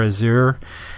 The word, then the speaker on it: Azure: Linux kernel purposely for Azir not sure how somebody else says that but that's essentially how I pronounce it I know that many